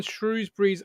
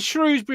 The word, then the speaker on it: Shrewsbury: evening everyone shrewsbury's uh is it shrewsbury or shrewsbury i say shrewsbury and somebody did commend me and i think it might have even been a shrewsbury fan and saying martin you say it right but how do you say say it i would have said shrewsbury because it's ooh isn't it yeah but then you